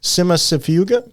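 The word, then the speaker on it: Cimicifuga: Always have difficulty pronouncing this one, but I think I got it. Simasifuga.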